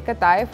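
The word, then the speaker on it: قطايف: कताइफ होता है या अताइफ होता है। एक्चुअली दोनों प्रोनाउंसिएशन ओके हैं, कुछ लोग कताइफ कहते हैं, कुछ लोग अताइफ कहते हैं, डिपेंड करता है कि आप अरब के कौन से रीजन के अंदर हैं।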